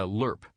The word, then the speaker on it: LRP: the war as an lrp a lerp as the acronym is often pronounced which stands for long-range